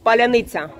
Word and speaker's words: паляниця: А can you pronounce паляниця?